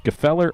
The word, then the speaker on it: Gfeller: Spelled Gfeller. So we're going to either say it's Gefeller or Feller with a silent G.